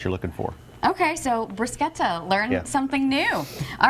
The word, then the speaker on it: bruschetta: Bruschetta is how I pronounce it, but Scott says in Italy it's pronounced bruschetta. Bruschetta.